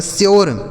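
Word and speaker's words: sure: क्योर एस यू आर ई एस से हो गया दोस्तों आधा स। यू का उच्चारण यो। आर ई से रखा गया आपका श्योर। एस यू आर ई श्योर।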